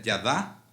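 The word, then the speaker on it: yadah: La palabra hebrea para alabanza es odé, de la raíz Ida, Y-D-A-H, se pronuncia Yadá.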